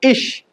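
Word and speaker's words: ig: Alphabets भी देखते हैं, जैसे आईजी का प्रोनाउंसिएशन क्या होगा? इश। वैसे काफी जगह इग भी बोला जाता है। ठीक है, लेकिन हम लोग हॉक डच सीख रहे हैं ओरिजिनल, तो उसमें क्या होगा? इश, उसका प्रोनाउंसिएशन क्या होगा? इश। नेक्स्ट CH का प्रोनाउंसिएशन क्या होगा?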